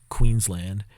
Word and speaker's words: Queensland: um just a note Queens land is pronounced literally as if it was written Queens land not a reduced Lun